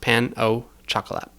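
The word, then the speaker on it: pain au chocolat: It's just pronounced pan au chocolate.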